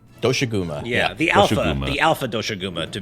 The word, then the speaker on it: Doshaguma: Is that how you pronounce his name? Doshaguma.